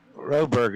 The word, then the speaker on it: Roberg: Roberg is how I pronounce it.